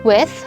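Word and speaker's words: WE:TH: this album is pronounced with uh it is uh written as w e i a colon t and it is a combination of the word we along with with with the actual with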